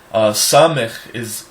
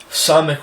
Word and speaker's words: Samech: Samech is a S sound said below, almost like when you say the word Mexico. When you come off the K of the Mexico, it's almost that you naturally pronounce the sound lower below the teeth. So it's actually s. It's not s like a regular S, it's s.